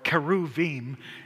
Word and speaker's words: cherubim: The im element again, or keruvim in Hebrew. The ch is really a k.